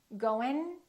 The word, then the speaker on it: going: pronounce that sound now i'm going to say an ING word in three different ways listen carefully the last way is the correct accent the first two are not correct listen going going going doing doing